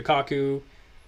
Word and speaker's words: Kaku: okay but even you know people like Michio Kaku I think is how you say his name